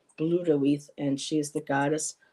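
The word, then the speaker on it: Blodeuwedd: was like, oh, it's Blutoweeth. Now I've heard it pronounced Blutoweeth, Bludowweeth, depending on the correct pronunciation, but I've been known to pronounce it as Blutoweeth, and she is the goddess of the flowers, of nature.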